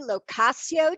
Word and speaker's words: Lo Cascio: today i have with me anthony and stacy locasio did i pronounce that right guys yeah yes now are